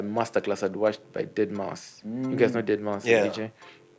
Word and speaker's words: deadmau5: also by a master class i'd watched by dead mouse you guys know dead monster yeah that's how